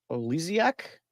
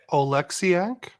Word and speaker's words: Oleksiak: Jaden Schwartz gets his 26th from Olesiak. Oh man, and Otavainen. To put it Oleksiak.